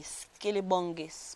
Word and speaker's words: SkillyBongis: close friend of mine um it's spelled s-k-i-l-l-y-b-o-n-g-i-s-t skelly bongis pronounced as skinny bongis i got that name at